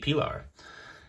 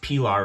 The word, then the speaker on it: Pilar: to the hype so i hope i pronounced pilar right for you guys i do think it's it sounds like a p the i sounds like like an e i've heard uh jesper